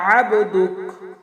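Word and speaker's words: عبدك: এই যে আবদুকের এখানে দেখেন আইন আছে, আইনের উচ্চারণ সবসময় হলকের মধ্যখান থেকে একটু চাপ দিয়ে উচ্চারণ করতে হয়। আবদুক আমরা অনেকেই পড়ে থাকি আবদুক, আমরা এটা খেয়াল রাখবো।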